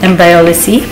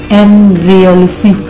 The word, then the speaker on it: Embryolisse: It's called Embryolisse. That's how you pronounce it. Embryolisse.